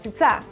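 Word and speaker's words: קציצות: in the Hebrew language kit seats ah squish these sounds together and you get it sits ah you should also know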